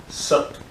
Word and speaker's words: Sat: Try to put the tongue just a little bit above the teeth. There's like a little bit soft spot just above the teeth, so it's Sat.